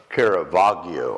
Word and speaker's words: Caravaggio: I don't know if you've seen the painting, Italian painter Caravaggio, I think is the way you say his name.